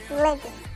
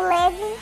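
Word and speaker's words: Ravn: O primeiro integrante é o Levin. É em inglês o nome, mas assim, em coreano eles não tem um R, então tipo, fica Levin, Levin. Então Levin é o nome artístico e o nome verdadeiro é Yeon-jo, Yeon-jo.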